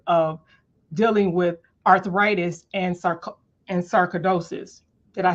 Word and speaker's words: sarcoidosis: natural medicine because of dealing with arthritis and sarcoidosis.